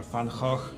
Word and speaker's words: Van Gogh: And does anybody know what style did Van Gogh or Van Gogh? That's the correct pronunciation, actually, more or less, because I knew Dutch.